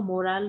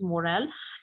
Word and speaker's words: morale: He was, thinking that it is actually a morale booster. Why it's a morale? And students, this pronunciation is not moral like we have moral stories. This is morale, and it means like how happy or confident you feel.